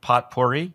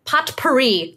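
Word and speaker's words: potpourri: personality what is psychotic pot porri pot Puri that's correct that's how you say it do you order a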